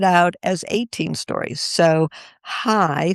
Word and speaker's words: chai: So hi, C H AI. Sometimes pronounced, you're getting that more of a throaty kind of like you can either say Hanukkah or you can say Hanukkah.